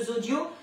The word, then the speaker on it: Zodio: Donc allez faire un petit tour sur le site de Zodio, ça s'écrit comme ça se prononce, et vous devriez trouver du Micrio.